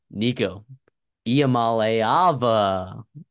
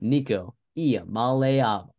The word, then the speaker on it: Nico Iamaleava: Nico Iamaleava.